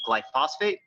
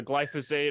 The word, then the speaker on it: glyphosate: the key things that gets sprayed is called glyphosate or you might pronounce it as glyphosphate yeah it's a glyphosate also known as Roundup and that's like proven